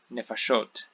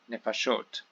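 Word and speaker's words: נְפָשׁוֹת: Nefesh, for soul or self, becomes nefashot, nefashot. So in both these you can hear the stress is now the final syllable here, and we have the vowel reduction, the vowel changes that have happened.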